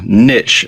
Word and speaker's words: niche: Choosing the right niche, or niche as some people pronounce it, for your membership site